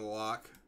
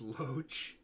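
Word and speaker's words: Loch: It's pronounced Loach.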